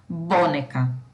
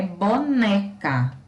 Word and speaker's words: boneca: Na verdade, a pronúncia da palavra é boneca. Boneca. E aí a gente entende que o né é a sílaba tônica, ou seja, é a sílaba mais forte dessa palavra, tá?